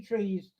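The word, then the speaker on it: trí: well but the three trees uh that's a lovely picture for that it's spelt t-r-a-i pronounced tree and these are the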